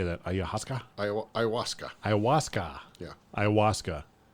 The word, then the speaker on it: ayahuasca: Ayahuasca. Ayahuasca. Yeah. Ayahuasca. Doesn't look like ayahuasca, but I think that's how they say it.